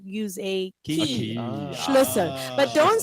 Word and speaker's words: Schlüssel: Schluschen. try to pronounce the two S's faster. Schlüssel.